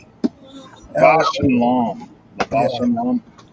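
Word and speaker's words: Bausch & Lomb: It's BAUSCHL. Bosch and Lom.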